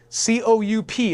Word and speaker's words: coup: government in a bloodless coup c-o-u-p is pronounced coup in this context it's a French word for overthrow so the Communists did